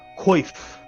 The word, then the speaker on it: coif: Just kind of he sort of produces sort of like he produces like a sort of like a chainmail coif. I don't know how to pronounce that word.